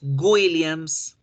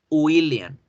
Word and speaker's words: William: mal el nombre porque en español tendemos a decir con la g de gato william mi nombre es william no no es william es y william william william en la